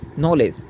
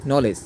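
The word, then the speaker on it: knowledge: উচ্চারণ চ হবে এরপরে শব্দের মধ্যে ডি এর পরে যদি জি হয় তাহলে ডি এর উচ্চারণ হয় না যেমন আমরা একটা উদাহরণ দেখি নলেজ কি এন ও ডব্লিউ এল ই ডি জি ই নলেজ লক্ষ্য করুন এখানে কিন্তু ডি এর উচ্চারণ হয় নাই কোন ডিটা এল ই এরপরে ডি হয়েছে যে উচ্চারণটা ওটা হয় নাই কেননা আমরা এখানে পড়ছি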